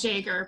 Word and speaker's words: Yeager: We actually pronounce it Jaeger, but that's, I'm sorry.